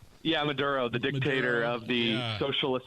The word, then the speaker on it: Maduro: Yeah, Maduro, the dictator of the socialist hell hole.